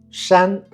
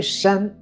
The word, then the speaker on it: 山: Shan a la derecha.